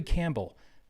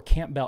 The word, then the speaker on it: Campbell: know we're not near each other because zachary campbell or camp bell it's actually pronounced campbell i know this because i had